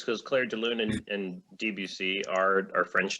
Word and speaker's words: Debussy: That's how you pronounce that? Yeah. It's not Debussy. No, it's not Debussy. Debussy.